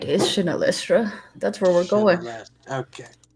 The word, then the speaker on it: Shinelestra: place with a long name that I can't pronounce oh the shifting City why is it shifting you got it right is chanelistra that's where we're going okay well um they